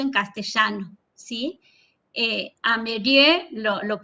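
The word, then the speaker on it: Meirieu: Bueno, em, he encontrado tres imperativos pedagógicos en los que se fundamenta, digamos, la conferencia de Philippe Mereau. ¿Cómo se dice, profe? Se pronuncia Merieux.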